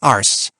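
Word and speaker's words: Arce: her file your contact will be Miss ARS so that really is how it's pronounced my my Long Island June 2nd now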